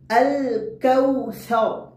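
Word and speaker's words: الكوثر: আল কাউসার, কাউ যেহেতু কাফের পরে ওয়াও রয়েছে সেহেতু ওয়াও উচ্চারণ করতে হয় দুই ঠোঁট গোল করে সামান্য খোলা রেখে।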